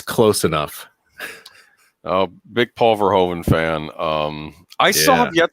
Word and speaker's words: Verhoeven: You forgot Paul Verhoeven, though, Daniel Herron, the great director of Paul Verhoeven, directed this.